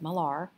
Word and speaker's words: Millar: peter millar cologne and that is spelled m-i-l-l-a-r not miller but malar spray cologne new in